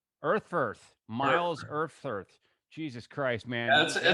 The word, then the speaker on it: Erfurth: So everyone, please welcome Myles Eufurth. Did I spell it right? Eufurth? Did I say it right? It's Erfurth. Erfurth.